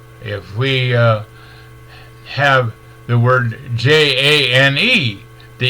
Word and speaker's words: Jane: the A, and then the J-A-N-E is pronounced Jane. Jane, because the A had to say its name and the E didn't have to say anything at all.